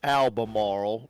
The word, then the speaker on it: Albemarle: Alan, it is Albemarle, North Carolina. Albemarle, okay.